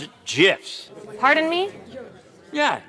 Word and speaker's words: GIF: That some of you may have seen on the socials via hilariously violent GIFs from developer Dead Toast. Pronounce it GIFs. Pardon me? Yeah, GIFs.